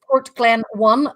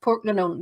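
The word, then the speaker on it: Portglenone: So if you ever see anywhere that says Port Glen 1, that's actually pronounced Port Glenone.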